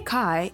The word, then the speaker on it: Kai: Pro tip, if you meet a Kai, it rhymes with hi rather than hey.